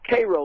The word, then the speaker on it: Cairo: Cairo, like the syrup.